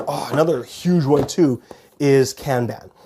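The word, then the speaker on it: Kanban: huge one too is can ban I think a lot of people in the US call it kbon but here in Canada we do say we pronounce it can ban this one is neat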